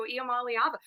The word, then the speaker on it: Iamaleava: like the next coming, look like the good pronunciation. Good job out of you there. Nico Iamaleava.